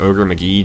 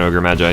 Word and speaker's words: Ogre Magi: And please note, I'm probably not going to be saying Ogre McGee just because... I'm sorry, if you're wondering, by trade and training, I'm actually an English teacher, so intentionally mispronouncing a word like that kind of grates on my nerves a little bit, but... So I am going to be saying Ogre Magi or just plain Ogre.